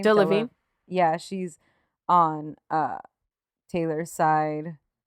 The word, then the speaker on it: Delevingne: Cara, how do you pronounce her last name? Delevingne.